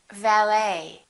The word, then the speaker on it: valet: The silent T very frequently happens in words that are originally French. For example, the word ballet, it has the ET ending, and in the French language, the T is almost always silent, so English speakers pronounce it the same way.